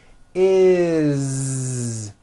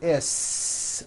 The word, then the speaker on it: is: Is. It doesn't matter that it's spelled with an S. It's never is, unvoiced, never. It's always is with a voiced Z.